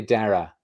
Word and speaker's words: Dara: How do you pronounce it? I would say Dara.